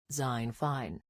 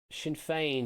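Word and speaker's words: Sinn Féin: Zinfane. Shinfane, you've gone for which is I'll take it. Yeah, Shinfane is correct. Yeah, it's gone for the Seinfeld kind of pronunciation apparently. Um, but Shinfane I'll take.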